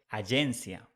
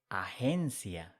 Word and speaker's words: agencia: G, when it's following by E or by I in Spanish, is pronounced like H. So we don't say agencia, we say agencia in Spanish. It's important that you know this pronunciation.